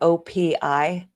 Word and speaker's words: OPI: Oh, you pronounce each letter OPI.